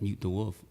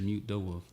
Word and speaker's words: Mutedawolf: People call me mutated wolf, muted a wolf. Mutated some shit, and I'm like, it's just mute the wolf.